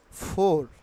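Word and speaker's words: four: ভুল উচ্চারণ করি সবসময় ফোর will be pronounce will be নট ফোর নট ফোর টেনে বলবো না আর will be silent R will একটু খেয়াল করবা আর উইল বি সাইলেন্ট হিয়া ওকে তাইলে ফোর উচ্চারিত হবে ফো নট ফোর ফো ফো এখানে ফাইভ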